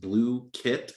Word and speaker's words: Blooket: First of all, Blooket, pronounced Blue Kit.